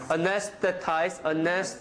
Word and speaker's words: anesthetize: When S and TH, when they come together, I say it like anesthetize. I don't try to put my tongue between my teeth because it's too hard.